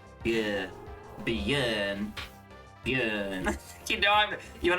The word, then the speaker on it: Björn: Kinda like the way you pronounce the E in her. Yeah. Björn.